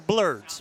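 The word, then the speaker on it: Blerds: Yeah, we're blurds, black nerds. Blurds. Yeah. I like that. Blurds. Blurds. That's spelled B-L-E-R-D-S.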